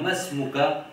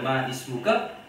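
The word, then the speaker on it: ما اسمك: Et ici, nous disons masmuka parce que ism, sa hamza là, sa alif de ism là, c'est hamzatul wasl. Et hamzatul wasl, si il y a un mot avant lui, nous pas pour prononcer sa hamza là. Nous va vous dire ma ismuka, nous vous dire masmuka.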